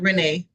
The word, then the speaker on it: Rene: Am I pronouncing your last name right? It's perfectly fine, Renee.